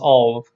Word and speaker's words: of: just uh with the with the v sound of it's pronounced of you can check this